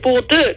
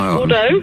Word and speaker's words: Bordeaux: Well, you pronounced it Bordeaux the last time I called, but it's Bordeaux.